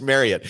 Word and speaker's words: Marriott: And if people say, hey, you're mispronouncing that, if they tell me that, I'll say, no. Greg Wrubell told me it's Marriott. So that's what it's going to be moving forward.